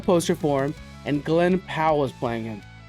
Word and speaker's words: Powell: Poutro. Poutro. Poutro. I always feel like I say his name horribly wrong. Um Glen Powell. Pow. Pow. I always want to call him Poutro.